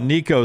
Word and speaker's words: Nico: you mine Probably sounds it rhymes with blinko or Dinko or moo or tinko I'm talking about Nico there at Tennessee dude